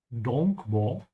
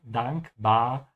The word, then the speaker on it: dankbar: Also make sure whenever you're pronouncing dankbar, to keep your mouth open on both A's. It's not the same as the English A. It's not dankbar. Or dankbar or something like that. Dankbar.